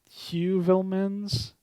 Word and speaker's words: Heuvelmans: I said Heuvelmans because that sounds more Dutch.